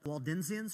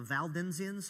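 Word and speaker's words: Waldensians: The the Waldenzians or Valdenzians, it's it's a spelled with a W, but I think technically it's pronounced Valden.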